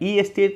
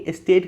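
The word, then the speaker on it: estate: भी कहा जाता है, ई एस्टेट नहीं, एस्टेट कहा जाता है, ई साइलेंट होता है।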